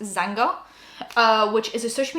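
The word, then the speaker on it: Xanga: just started posting on i believe it's supposed to be pronounced zanga uh which is a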